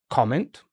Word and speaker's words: comment: So we've got comment. So I can have a comment. And you can comment, no? Exactly. Okay. But here it's not comment, but comment. I can comment.